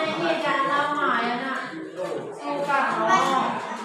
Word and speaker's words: Soekarno: Jangan salah membaca O dengan E menjadi U.